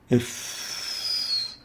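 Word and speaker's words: ف: It's pronounced if, as in if. If. It articulates at the lips, between the lower lips and the upper teeth.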